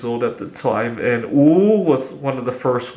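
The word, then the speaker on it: 五: for 5 more minutes in Chinese the number five is pronounced ooh my mom would say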